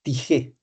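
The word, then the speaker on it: τύχη: En griego la palabra es tigé. Tiché se escribe.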